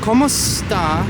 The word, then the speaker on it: kumusta: Well, kumusta?